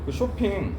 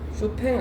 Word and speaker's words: 쇼팽: 진짜 눈물 날 뻔했잖아 쇼핑 피아노에 대거장 쇼핑 쇼팽 아냐 어 맞다 쇼팽이 쇼팽 쇼핑한 줄 알았잖아